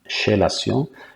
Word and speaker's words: chélation: Donc ça s'écrit chélation, mais ça se prononce chélation.